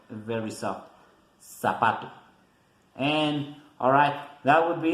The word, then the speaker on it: zapato: And the pronunciation is like the S, like the Z in English, but we don't make the vibration like in English. We only say zapato, zapato. Not that vibration, not a lot.